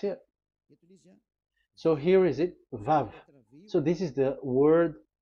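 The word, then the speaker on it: ו: So the word, the shape Vav is really pronounced V, like Vogue. That is it, pronunciation. So here in this side, it's pronunciation. This is pronunciation. So according to the old Hebrew word today, those who the owner of the word, I mean, so it's a V. So don't change it into W, and you will say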